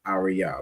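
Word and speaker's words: אריה: Each of those letters pronounced fully. So the word is arya which is lion.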